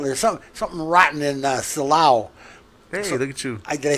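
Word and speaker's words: Silao: eric that little there's some something rotten in salaw look at you did i say it right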